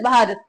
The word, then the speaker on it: भारत: Aryans की, that is भारत, भारता, ठीक है। तो इसको कुछ भी बोल सकते हो आप, भारता भी प्रोनाउंस कर सकते हो, भारत भी प्रोनाउंस कर